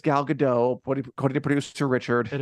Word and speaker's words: Gal Gadot: Apparently, they say it's Gal Gadot, according to producer Richard. It is. I believe you. Okay, it's Gal Gadot.